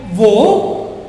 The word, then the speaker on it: au: wo and wo. Same pronunciation.